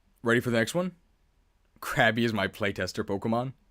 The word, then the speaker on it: Krabby: to say about crabby make sure to pronounce it right it's crabby not crappy you can catch it